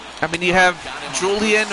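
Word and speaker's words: Julián: I mean, you have Julian or or as it's pronounced in Spanish, Pulan Fernandez.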